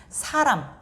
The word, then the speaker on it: 사람: 근데 이제 사람을 발음할 때는 입술이 닫히고요.